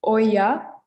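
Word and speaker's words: olla: about oh yeah so this double l is pronounced like a yeah as well this is oya oso and obeja okay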